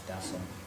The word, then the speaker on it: Dasa: But actually it's an A on the end. It's Dasa. It's a soft A. It's a soft A. So yeah, a little Hari Rama, Hari Rama. Generally speaking, yes, you do pronounce it with a slight second. And in Sanskrit, the last A is not dropped.